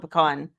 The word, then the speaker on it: pecan: it pan here yeah they called it pein I've always called it pean yeah I've always called it pecan um mine's a California